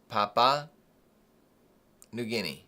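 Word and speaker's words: Papua New Guinea: looking at here folks I don't even know how to say Papua is that I don't I don't know if I'm saying that right I think that's how you say it I should probably ask Google Papa Papa new guine correct okay yeah so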